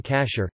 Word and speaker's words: כָּשֵׁר: Food that may be consumed according to halakha law is termed kosher in English, from the Ashkenazi pronunciation of the Hebrew term kasher, kasher meaning fit.